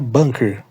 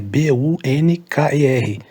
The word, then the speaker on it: Bunker: errado a gente pronuncia Bunker a pronúncia é com a mas ele se escreve com u Bunker então a escrita é b u n k e r mas a pronúncia é